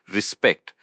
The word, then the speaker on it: respect: It's respect. The emphasis is on the second syllable. Spect. Respect.